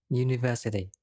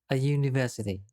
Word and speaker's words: university: hour let's have a look at another example university this word starts with the letter u but it is pronounced with here at the beginning and it